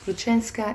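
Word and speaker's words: Grushenka: this woman called ruchenska I had to look it up just to make sure that I was saying it correctly ruchenska is um you know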